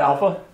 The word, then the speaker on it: alpha: It's not alpha, it's alpha. It's not bravo, it's bravo.